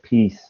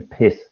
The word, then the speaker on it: piss: so it's good but your pronunciation of peace wasn't quite right so what you said would sound like taking the peace taking the peace so it should be taking the piss taking the piss taking